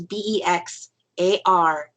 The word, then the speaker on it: Bexar: And if you want to find him on YouTube, his YouTube channel it's actually, it looks like Bexar County Bigfoot, but it's pronounced Bexar County Bigfoot. So it's Bexar County Bigfoot on YouTube, so you can find his stuff there.